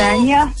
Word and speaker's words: Anya: C'est Anya. C'est Anya? Bah, pourquoi j'ai dit Anja? Alors, ça se prononce. C'est Ganja. Ah ouais, non, Ça non. se prononce c'est- Anya. Ça se prononce Anya.